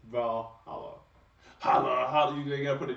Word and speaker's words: Valhalla: Is that how you say it? Is that Valhalla? Yeah, you killed it. Okay. Because if that's not how you pronounce it, that's how it should be pronounced. Valhalla.